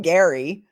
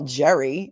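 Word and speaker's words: Gerry: don't like they call first of all they call him Gary right they call him Gary but it's they spell it g r r y which in New York we call Jerry and it's usually short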